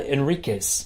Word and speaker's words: Enriquez: as my very special guest I have Enriquez that's right I got it right you did oh good pronouncing pronunciation is not my strong point so